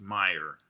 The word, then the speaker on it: Meier: My name is pronounced Meyer.